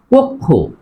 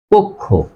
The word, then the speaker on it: কক্ষ: অর্থাৎ অ আছে আর অ এর পরে ক এর মধ্যে থাকার কারণে এই ক এর সাথে ওকার হবে তাহলে হবে কক্ষ কক্ষ আর এটা হবে কি